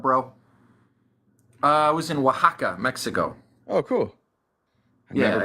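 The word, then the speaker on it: Oaxaca: what are you do in aaka no Waka it's like a oldest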